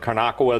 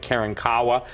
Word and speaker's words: Karankawa: And what's important that people understand is this, is that even in Texas, some people pronounce it Karnakawa, the other people pronounce it Karankawa, but the appetite of